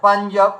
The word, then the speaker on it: পাঞ্জাব: তো এখানে দেখুন আমরা ইয়কে ধরেছি, তার মানে এই বিন্দি সংকেত করেছিল যেটা ইয়া উচ্চারণ হবে। আচ্ছা পাঞ্জাব, পাঞ্জাব, পাঞ্জাবের ক্ষেত্রে দেখুন এই দেখুন, আচ্ছা এটা